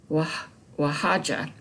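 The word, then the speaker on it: Oaxaca: started in a place called wahaja and that's it's spelled very strange o-a-x-a-c-a in mexico this place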